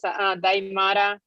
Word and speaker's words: Daimara: Hi, my name is Daimara. You pronounce it Daimara, like the movie Die Hard.